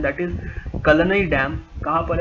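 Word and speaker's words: Kallanai: तो इस डैम का नाम है कलनई, जो भी साउथ इंडिया में प्रोनाउंस करते हैं, दैट इज कलनई डैम।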